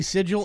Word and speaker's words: sigil: your blood magic uh-huh technically sigil and sigil are both proper pronunciations they're both they're both correct regarding the mech changes